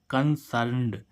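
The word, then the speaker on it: concerned: आ रहा था न तो अगर लास्ट में न हो उसमें हम डी या ईडी को जोड़े तो उसका उसको हम डी आईडी को क्या पढ़ेंगे ड ठीक है ऐसे ही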